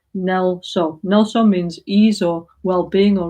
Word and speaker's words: NgalSo: NgalSo means ease or well-being or relaxation in Tibetan, But it's got 2 syllables, Ngal and So, like in English, relax, So Ngal means dealing with